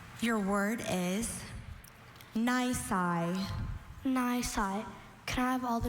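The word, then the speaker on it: nisi: Nai. Can I have all the information? Nai or ni is an adjective.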